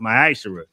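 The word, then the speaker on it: מעשר: In Malachi chapter 3, verses 8 through 10, means 10th in the Hebrew is pronounced ma'ashera.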